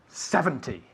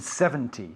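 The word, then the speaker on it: seventy: difference between 17 and 70 see okay 17 and 70 17 70 you'll notice that 17 the the the emphasis is on the second syllable where 70 the emphasis on the first syllable so for example 13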